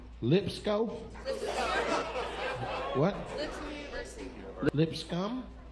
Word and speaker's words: Lipscomb: Oh, the B is silent?